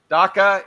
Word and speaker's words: dacha: Ian Cummer, who is streaming live from his dacha in Crimea. Did I pronounce dacha correctly?